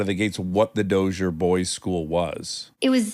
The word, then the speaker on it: Dozier: In fact, I won't even know how to pronounce it. Is it the Dozier? Dozier.